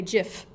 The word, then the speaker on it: GIF: behind the camera here he would correct me and say jiff and then just I'm sure